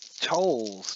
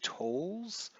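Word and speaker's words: Towles: Tolles, T-O-W-L-E-S, I'm assuming you pronounce it Tolles.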